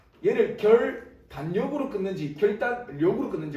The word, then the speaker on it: 결단력: 세 글자짜리 한자어를 보면 얘가 발음이 결 일단 역 이렇게 나는 거죠 그러니까 우리가 미음과 리을이 만나면 일반적으로 유마가 일어나서 결 딸려 이런 식으로 날 것 같지만 우리가 실제로 발음이 별 딸력 이게 아니고 결단력 이렇게 발행하는 거죠 그냥 이런 거를 우리는